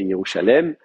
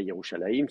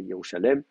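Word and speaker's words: ירושלים: Donc effectivement, Jérusalem, c'était pas Yerushalayim, c'était Yerushalem, et ça n'est qu'après qu'on en a fait un faux duel.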